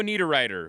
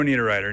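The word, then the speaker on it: Niederreiter: and Nino need a writer who's representing Switzerland in hockey. This was the pronunciation guide I found on Twitter. Nino need a writer.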